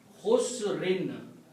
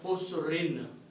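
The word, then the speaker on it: خُسْر: dhammas or two kasras, if you stop you don't pronounce the sound of noon, you pronounce khusr. Okay? But if you want to continue, you can pronounce khusrin.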